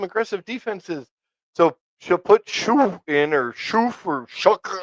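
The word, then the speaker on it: Shough: I think Shoo is going to be that's what his name is Shoo. The GH is silent.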